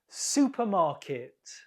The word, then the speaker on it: supermarket: Supermarket. Supermarket. The first syllable is stressed.